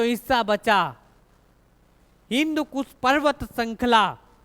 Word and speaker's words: हिंदू: इन्होंने जब उच्चारण किया, सा को बोला हा, और धा को बोला दा। तो ये क्या हो गया, हिंदू, हिंदू नदी, उन्हीं के नाम पर क्या पड़ गया, हिंदुस्तान।